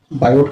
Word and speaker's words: Biot: एब कूलाम, जिसे हम बायोट के नाम पर इसे रखा गया है, जिसे BIOT, टी इसमें साइलेंट होने के कारण BO या बायो पढ़ते हैं।